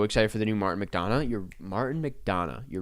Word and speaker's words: McDonagh: It's pronounced McDonagh. But did I not say that? Did I say Donna? Donna?